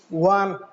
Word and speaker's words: one: Because the sound is not vowel. If you pronounce it, you will get WA. If you pronounce one WA, the sound is coming as WA, one rupee note.